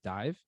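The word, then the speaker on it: DIIV: name correctly but was that the tour with dive d-i-i-v yeah exactly that's yeah it's dive yeah so that was an insane tour and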